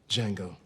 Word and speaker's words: Django: Django. DJANGO. The D is silent.